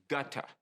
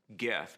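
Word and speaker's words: Goethe: money now johann wolfgang gutta the german writer you know many people pronounce his name geth but it's really like gutta he said this about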